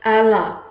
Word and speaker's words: Allah: That word is Allah, pronounced Allah. It is spelled in Aramaic O-L-H and pronounced Allah.